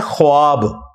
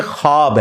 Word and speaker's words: ख्वाब: शैतान नहीं आ सकता अच्छा ये लफ्ज लिखने में है ख्वाब ख व अलिफ बा लेकिन पढ़ने में यह खवाब है व साइलेंट हो जाता है ख्वाब पढ़ा जाता है यह लफ्ज उर्दू